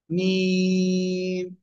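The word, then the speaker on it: ميم: এই অক্ষরটার নাম কি মিম মিম মিম চার আলিফ টা পড়তে হবে কয় আলিফ চার আলিফ মিম দুই ঠোঁটের শুকনো জায়গা থেকে উচ্চারণ করতে হবে মিম সবাই একসাথে জোরে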